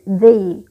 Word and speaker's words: the: Jadi karena D ketemu dengan vowel ataupun huruf vokal, maka pengucapannya itu berubah menjadi they, the afternoon.